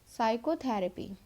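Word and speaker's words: psychotherapy: Question number 27 है, which letter is silent in the word साइकोथेरेपी। तो ये साइकोथेरेपी लिखा है, इसमें कौन सा वर्ड है जो साइलेंट है? वो है पी।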